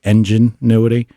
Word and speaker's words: Enginuity: I ordered a Auto Ingenuity, and it's spelled EN, like instead of ingenuity, it's like Enginuity.